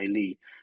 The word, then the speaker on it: Lie: So for instance, Bruce Lee is the same Lee as my Lee.